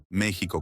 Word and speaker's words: México: México con X México con j o Mexico con sh Cuál es la razón por la cual se escribe México con x se pronuncia México con j y en la lengua